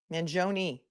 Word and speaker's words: Mangione: few moments ago Luigi Manon Manon Manon that's how his cousin Nico pronounces it appears in court to